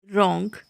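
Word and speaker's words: wrong: डब्लू वहाँ भी silent होता है जब कभी भी आर से पहले डब्लू आता है, वहाँ पर जो है डब्लू साइलेंट होता है, जैसे कि रॉन्ग, wrapper, wrinkle, wrist, right, Regal, wrench, rack, wrath.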